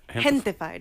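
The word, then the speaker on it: Gentefied: Is that how it's pronounced? Gentified. Oh, okay. So it's like a mixture of gente, which means my people, and then gentrified.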